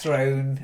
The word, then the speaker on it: throne: Game of Thrones yeah you said it like frown like drown but it's thrown like throne throne and Throne sound the